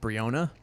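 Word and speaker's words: Breonna: back we talked about brianna taylor which i think her name should be pronounced briona but whatever it is what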